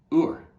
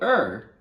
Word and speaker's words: Ur: began to develop there called ur or i think is the proper pronunciation of it so er whenever you look at